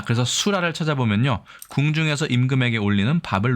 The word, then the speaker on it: 수라: 마와 같이 음역자 씁니다 왜냐면 이것이 랄이 아니라라 혹은 라로 발음되고 때문입니다 그렇기 때문에 우리나라의 자전을 살펴보면이 글자가 랄로 발음도 되지만 수라 할 때는 라로 발음한다 예라는 것을 포함한 설명도 있음을 알 수 있습니다 호하는 콜레라 있고요